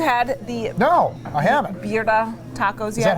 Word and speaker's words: birria: Birria Tacos yet?